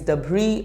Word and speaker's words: debris: correct pronunciation is debris s is silent so the correct pronunciation is debris not debris there was